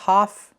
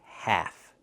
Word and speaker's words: half: And remember the L is silent. So not half but half.